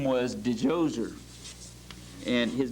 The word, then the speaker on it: Djoser: day they had this pharaoh whose name was Djoser. And his name is spelled different ways depending on how it's transliterated, but most commonly it's D-J-O-S-E-R.